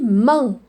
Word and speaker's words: main: On dit main. Ou bien muette, main. Alors, quand vous trouvez A-I-N, ça devient un.